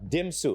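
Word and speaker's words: DMMMSU: So Chris, yeah, I have to say it right. Dimsu, right? That's how it's said. Dimsu. Otherwise, you have to say Don Mariano Maro State University. So Dimsu nickname, shorter name.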